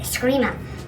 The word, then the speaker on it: Eskrima: It's spelled E-S-C-R-I-M-A, Eskrima, art of our niece from the Philippines.